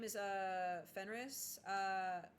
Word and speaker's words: Fenris: I mean, my name is uh Fenris. Uh is it Fenry? Fenris. I don't feel like you pronounce the S. I feel like I'm wrong for that.